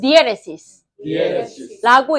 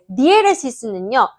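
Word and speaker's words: diéresis: 이거는 약간 우리 학습을 위한 발음이고 원래는 디에레시스라고 읽거든요. 디에레시스는요.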